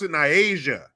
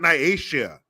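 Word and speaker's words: Nyiashia: the the mom pronounced in Aisha not Naisha not naishia which is what it looks like naishria sounds like like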